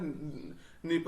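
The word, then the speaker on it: Dnieper: होकर के जो है नीप नदी आपके बह रही है देखिए यहां डी साइलेंट है इसको ध्यान रखना है आपको तो ये ब्लैक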